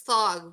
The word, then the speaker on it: Thog: it's thog, rhymes with log, Oh, not lag.